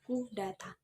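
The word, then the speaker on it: coup d'état: Pengucapannya adalah coup d'etat atau disingkat dengan coup, yang berarti merobohkan legitimasi atau pukulan terhadap negara.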